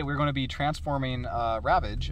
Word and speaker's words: Ravage: And today we're going to be transforming Ravage, not Ravager, to any of you all mung nuts out there who think that's pronounced like that.